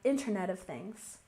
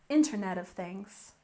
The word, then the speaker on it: Internet of Things: and next we have Internet of Things We have stress on the first syllable Internet of Things internet of things and